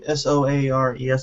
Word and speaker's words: Soares: But apparently a designer named James Soares, I think is how you say that last name, Soares, S-O-A-R-E-S, I'm saying Soares.